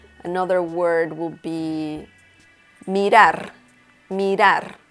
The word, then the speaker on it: mirar: Mirar. We have the letter R at the end of this word, and it is pronounced differently than the other R that is in the middle of the word.